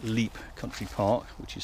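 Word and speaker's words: Lepe: running along the Hampshire coast to places like Leep Country Park, which is spelled L-E-P-E, where I saw them many years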